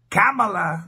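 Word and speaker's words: Kamala: candidate born from Dei camela they say is how you have to pronounce her name and we all know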